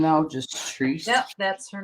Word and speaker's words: Therese: Then there's some that it's just Treese. So it's THERESE. Treese. I have a friend that her name, she spells it that way. That's her name, though? Just Treese?